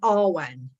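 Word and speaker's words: Awen: as well is inspiration the Arwen that's uh the heart of jewelry the R1 a-w-e-n it's Welsh and I may have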